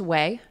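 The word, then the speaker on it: Ouai: So that was something that I learned along the way from Jen Atkin, who I love. She's amazing. She started, is it pronounced Way?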